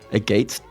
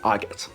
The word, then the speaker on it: agate: A a gate dice. Agate dice. They're known as spectrum dice made from a a agate stones. Okay, so it's officially pronounced argot.